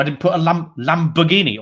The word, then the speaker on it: Lamborghini: didn't put a lamb Lamborghini or as my dad would say Lamborgini he never kind of worked out how to pronounce it properly so that is it